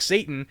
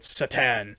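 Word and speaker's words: Šatan: His last name is spelled Satan, Satan, and like you look at it and you think Satan, and it's Satan, and it's like, oh, okay.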